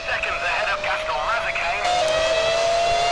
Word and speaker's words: Mazzacane: You're about 2 seconds ahead of Gaston Mazzacane. Mazzacane. That is how you say it.